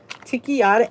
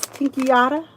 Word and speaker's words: Tinkyada: So Walmart has this Ticchiata. It's spelled Tinkyada. Ticchiata.